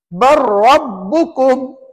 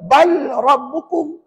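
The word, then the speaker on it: بل ربكم: sama Ji barabbukum barabbukum huruf mana yang kita kena baca lam ke ra a ra ra Sebab Dia bersabdu lam tu bertanda apa lam tu bertanda apa tak tahu tanda Apa jawabnya mati tapi matinya tak nampak pada tulisan Kenapa tak nampak Ustaz banyak soal kita ni tuan-tuan lam tu tak nampak mati supaya kita tidak membacanya kalau ditunjukkan mati nanti ada yang baca bal rabbukum nampak risikonya kalau dia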